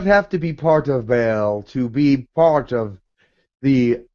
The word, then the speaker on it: Baal: So your relationship with Yahweh, and is it pronounced Baal? B-A-A-L?